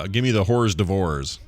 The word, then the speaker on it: hors d'oeuvres: And your aunt kind of looks at you like, I wonder if he really knows that it's pronounced hors d'oeuvres.